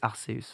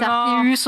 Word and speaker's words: Arceus: Donc c'est pas Ke, c'est pas Ke. Vraiment, le japonais est écrit en phonétique. C'est pas la phonétique de Ke, c'est la phonétique de C. Donc c'est Arceus. Donc si on la prononce bien sûr à la japonaise, ça serait la version officielle. Mais c'est la prononciation, établie. Voilà. Après, on n'est pas chiant, on aime tout le monde. Même si vous dites Arceus, on vous aime quand même.